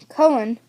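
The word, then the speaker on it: Colón: Service he gave a little bow Santa Maria colen Michael asked Columbus you're Christopher Columbus yes the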